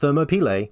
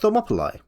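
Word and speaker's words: Thermopylae: for another easy one it's the Battle of thop sometimes pronounced thermop sometimes pronounced thermopol question four Socrates is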